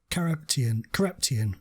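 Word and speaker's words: Karapetyan: It is Carepetian.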